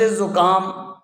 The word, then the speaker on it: زکام: یہ مضموم ہوں گے۔ لفظ زکام، اسی طرح لفظ بخار، ان دونوں میں زا اور با دونوں مضموم ہوں گے۔ سکون، کسی حرف کو